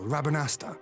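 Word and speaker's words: Rabanastre: The Dalmascan capital, Rabanasta, was a key Imperial refueling point in the They east. don't pronounce that R.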